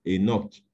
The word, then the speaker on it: Enoch: le nom de Enoch, il y a un H qui est devant. Souvent, il est prononcé de façon muette. Donc, on dit Enoch, au lieu de dire Kenok ou Kanok, etc.